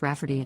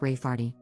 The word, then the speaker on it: Rayfarty: my sister wanting to name my niece Rayfarty, pronounced Rafferty, not at all like Rayfarty. My niece has been born 2 weeks earlier than expected, but she is healthy and home now.